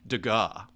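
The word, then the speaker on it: Degas: one stroke like that like a dega right dega is actually the correct pronunciation uh it's a little different so it's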